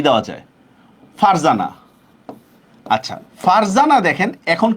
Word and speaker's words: ফারজানা: আর এর সাথে কোনো ভাওয়ালের উচ্চারণ নাই। সেক্ষেত্রে আমরা কি করব, যখন উচ্চারণটা লিখব তখন এই রর মধ্যে আমরা একটা হসন্ত দিব, রর মধ্যে একটা হসন্ত দিব।